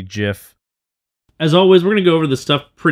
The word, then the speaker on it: GIF: It's like a nice 1980s vibe, kind of Blade Runner, you know, with a hard G GIF.